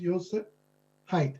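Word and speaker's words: Josip Heit: correctly that's jip jip it's pronounced ysep height HEI T so give big happy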